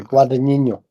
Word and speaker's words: Guadagnino: I always say his name wrong. Luca Guadagnino. I'm so sorry. Yeah, Yeah. Guadagnino.